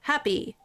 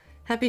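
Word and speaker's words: Hapi: Happy. which is a h a pi. Uh so kind of easy to pronounce.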